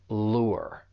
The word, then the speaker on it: lure: When you pronounce this verb, just make sure that you are saying that diphthong, because that you, it's going to sound like a combination of vowel sounds. Lure.